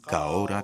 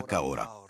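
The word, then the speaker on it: Ka ora: Il y a quelques mots qu'il faut apprendre à prononcer. Répétez après moi. Kamate Kamate Kaora Kaora.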